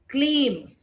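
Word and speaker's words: क्लीं: It is Ka, half Ka and Leem, Kleem.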